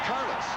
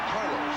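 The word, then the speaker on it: Rich Karlis: In the hearts of the Bronco fans, number 3 in the program, and pronounced Carlos, not Carlos, as so many have said.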